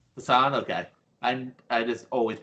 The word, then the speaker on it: Jeff Passan: Jeff Passan, I never know how to pronounce his name. Jeff Passan. Passan, okay.